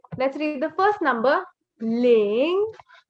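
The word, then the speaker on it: 零: Ling Ling. Okay, this is the second tone, and your pitch rises. You go from low to high.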